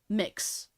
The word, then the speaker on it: Mx: could give you is mix AKA MX it pronounced mix um so instead of